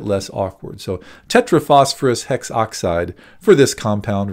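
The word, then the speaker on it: hexoxide: as it turns out there is another little rule that we use here especially whenever we have an A next to an O whenever we have that specific vowel combination we drop the a so instead of saying hexaoxide we call this tetraphosphorus hex oxide that's a little bit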